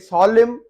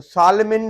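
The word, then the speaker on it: salmon: अब ये यहाँ पे सॉलिम, तो सालमिन नहीं पढ़ेंगे, एन साइलेंट है।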